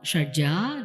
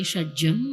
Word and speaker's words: Shadja: Shadja, Rishabha, Gandhara, Madhyama, Panchama, Dhaivata, Nishada. And we also say Shadjam, Rishabham, but preferably, I would request leave the akara open there.